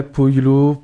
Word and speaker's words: Paulo: Pollo peut-être du coup, non? Ouais, Polo. Ça s'écrit comment? Il y a deux L? P-A-U-L-O. Ah donc Polo.